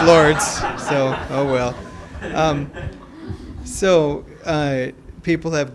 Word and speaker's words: Lourdes: a dangerous thing because you feel like it's spelled ello you are des so it must be like Li ha but no it's it's Lourdes so well so people